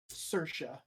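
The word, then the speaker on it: Saoirse: I love that name though cour can you spell it again um uh s a o i r s e cersa thank you because why not say the Irish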